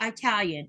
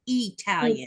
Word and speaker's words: Italian: You do not say Italian. It's Italian. Italian.